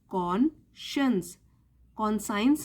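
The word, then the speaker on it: conscience: यह बहुत करंट है इसको प्रोनाउंस करते हैं कौन साइंस नहीं बोलते हैं साइंस की स्पेलिंग है लेकिन इस शब्द का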